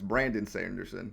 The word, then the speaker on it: Brandon Sanderson: And also, I said his name wrong. It's Brandon Sanderson.